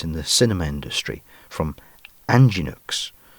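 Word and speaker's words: Angénieux: the cinema industry from anginux pronounced anginu and i wonder if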